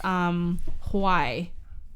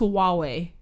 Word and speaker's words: Huawei: phone it was pronounced Huai. That's what you told me. Like, oh yeah, my phone. I heard it. I have the Huai. It's definitely pronounced Huawei. No, I heard Huai. It's Huawei.